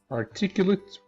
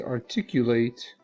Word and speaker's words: articulate: This is articulate, the stress on this syllable, and this is articulate with secondary stress on the last syllable.